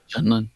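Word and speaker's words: Jundland: And the Bantha Raiders have vanished into the wilds of the hostile Junlin. Is that how you say it? Junlin.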